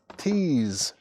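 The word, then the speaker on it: Teaze: This is Tease, T-E-A-Z-E, Tease, On the Loose.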